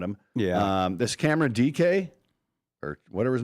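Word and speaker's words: Dike: I don't know how they're getting that either, but it's DK. You sound like a Ricky. Not Dyke.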